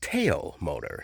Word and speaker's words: Tao Motor: Actually, I learned this week that it's pronounced Tao Motor, so the Tao Motor G200.